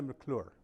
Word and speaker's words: McClure: you tell me if I bought miss McClure yeah Lucey founder of nasty women Connecticut you